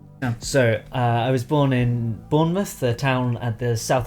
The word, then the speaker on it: Bournemouth: Произносится он именно так. Bournemouth.